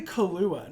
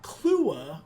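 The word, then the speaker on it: Killua: I say Kahlua, not Klua, which is a lot of people are saying Klua, but like Kahlua, like the liquid, like the alcohol.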